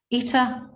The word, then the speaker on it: Ita: Ita with the stress on the first syllable, like Peter.